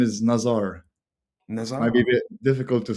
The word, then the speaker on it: Nazar: My name is Nazar. Nazar? Might be difficult to spell, pronounce, but Nazar.